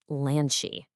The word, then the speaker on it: lanche: The first chunk sounds like lan and you really want to lean into a nice open ah sound there. Then, you just finish it right off with a super soft she. Put it together and you get lanche.